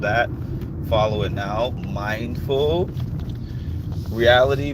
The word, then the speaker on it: Realitea: Mindful reality, but reality is spelled REALITEA. Reality, like the tea that you pour.